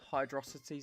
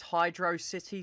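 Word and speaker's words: Hydrocity: Um some people call this hydro city zone. Some people call it hydroity zone like velocity and hydro cuz it's like a fast water stage.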